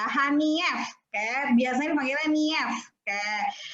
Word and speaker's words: Hanief: Bacanya bukan Hanif ya, Hanief.